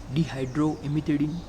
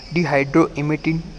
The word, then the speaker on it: dihydroemetine: You can see that this is a structure of dihydroemetine. So not a imidine, it is a dihydroemetine.